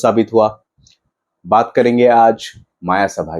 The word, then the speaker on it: मय सभा: बात करेंगे आज माया सभा की। वैसे मैं पहले ही बता दूं, इस मूवी का नाम माया सभा नहीं, मय सभा है।